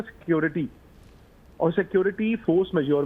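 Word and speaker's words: force majeure: मुझे फ्रेंच आती नहीं इसको प्रोनाउंस कैसे करते हैं इसको कहते फोर्स मेजर ये कांट्रैक्ट में होता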